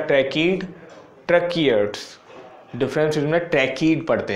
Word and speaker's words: tracheid: तो इसमें हम पढ़ेंगे difference between the ट्रैकीड ट्रकीयर्ड्स, difference between ट्रैकीड पढ़ते हैं, इसे क्या पढ़ते हैं ट्रैकीड, इसका प्रोनाउंसिएशन ऐसे लिखा जाता है हिंदी में ट्रैकीड,